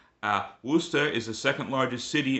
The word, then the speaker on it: Worcester: It is actually pronounced Wora. Wo R C S T E R. Uh Worster is the second largest city in Massachusetts.